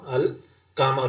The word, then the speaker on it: القمر: اندازہ ہو جائے گا۔ یعنی القمر میں جو پہلی لام جو ہے اس کی آواز آ رہی ہے، یعنی لام پڑھا جا رہا ہے، لکھا ہوا بھی ہے، اور تلفظ میں آواز میں پڑھا بھی جا رہا ہے، اس کو ہم القمر پڑھیں گے۔ تو یہ جو حروف